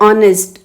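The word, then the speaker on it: honest: ऑनेस्ट में H silent है तो बन जाता है ऑनेस्ट, और से स्टार्ट है, वॉवल साउंड से स्टार्ट है, इसलिए इसके साथ आएगा एन, एन ऑनेस्ट एम्प्लॉय।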